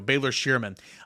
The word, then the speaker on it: Baylor Scheierman: Baylor Scheierman, I think is how you say his name. Let's see here. Baylor Scheierman. There we go. Baylor Scheierman.